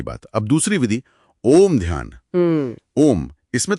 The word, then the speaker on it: ओम्: तरीका बताया गया है ओम असल में तीन ध्वनियों से बना है अ उ और अम अ प्लस उ प्लस